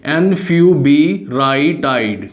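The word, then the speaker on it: enfuvirtide: Drug है antiviral, that is, please note the spellings, it इज एनफ्यू। इसको बोलना भी सीखिए, एनफ्यूबिराटाइड।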